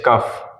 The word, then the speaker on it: cough: उसमें साइलेंट रहेगा। चलिए इसके एग्जाम्पल से समझते हैं। जैसे मैंने एग्जाम्पल में कहा COUGH, कफ।